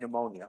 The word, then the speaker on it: pneumonia: word p for momentum the p is silent like pneumonia okay and we use